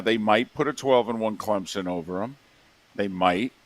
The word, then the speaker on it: Clemson: It's actually Clemson. Well, that's how they say it. In South Carolina, Clemson. They put a P in there.